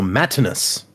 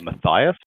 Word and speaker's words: Matinus: So Matinus. There's a note. It's signed Matinus, and then it says pronounced as a Roman style name based off Matt, not as Matt in US.